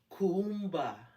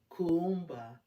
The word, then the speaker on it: Kuumba: it in there yes Kumba Kumba knows the pronunciation there's two U's and you hit both of those U's creativity creativity let's read